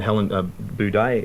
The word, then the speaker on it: Helen Buday: a roster here film with Gary Sweet and Helen Buday in it.